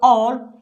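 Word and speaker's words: hour: So or, H is silent. So here come the vowel sound, O.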